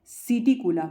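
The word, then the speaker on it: Psittacula: सिटिकुला, पी यहाँ पर silent रहेगा।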